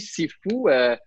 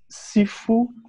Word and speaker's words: Sifu: Sifu, c'est 2 caractères. Si, ou bien che, ou su, dépendamment de la région, là, la prononciation.